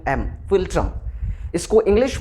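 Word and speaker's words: philtrum: में एक वर्ड है लैटिन लैंग्वेज में जिसका स्पेलिंग होता है पी एच आई एल टी आर यू एम फिल्ट्रम इसको इंग्लिश में इसका इंग्लिश वर्जन होता है एफ आई एल टी आर यू एम फिल्ट्रम तो नाक और होंठ के इस बीच वाले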